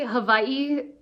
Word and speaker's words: Hawaii: it's Hawaii well technically Havi it's kind of like a lot of W's become a v in Hawaiian language but I'm not Hawaiian